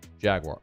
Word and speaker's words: Jaguar: It's pronounced Jaguar.